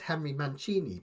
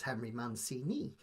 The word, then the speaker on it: Henry Mancini: Henry Man Manchini because I've always said Henry Manchini, but apparently in the States it's Henry Mancini and I go by like the Italian pronunciation.